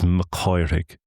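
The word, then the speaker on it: Mac Cárthaigh: So McCarthy isn't just McCarthy. Underneath it is Makyig. Mach Kirig, son of Kyuk's line.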